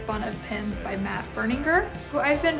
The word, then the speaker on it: Berninger: And it's Bun of Pins by Matt Berninger, who I've been pronouncing Berninger forever, so I'm sorry, Matt.